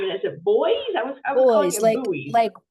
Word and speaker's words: Beuys: name and is it boys? I was I was calling it like like boys and girls. You pronounce it like boys and girls, but it's spelled B Us.